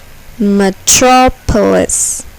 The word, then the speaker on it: metropolis: syllable is accented ballistic metropolis metropolis here the second syllable is accented metropolis apartment apartment here the